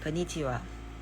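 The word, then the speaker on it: こんにちは: konnichiwa. Yun, diba? Konnichiwa. Konnichiwa. Dapat daw kasi pag ch, hindi siya ch na malambot. Dapat ch. Parang siyang ch. Ganyan. Konnichiwa.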